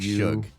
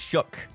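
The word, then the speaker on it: Shough: Oh, it's pronounced shook. Like I'm Shook? shook. Okay. I thought it was shug.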